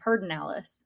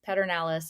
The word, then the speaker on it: Pedernales: know about you but I grew up saying pinalis which is so Texan like it's the pertinalis river but no it's pernales is how it's spelled and we've just done